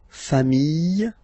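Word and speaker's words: familles: Okay, just add this final s and you get the plural form le. Okay, remember singular form same pronunciation but you put this s. Okay, final s not pronounced fami singular form fami plural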